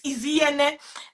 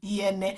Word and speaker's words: Inyene: I tell them, I said the N is Inyene. The N is silence, is Inyene. So just take away the N from it and pronounce like you're pronouncing Iyene.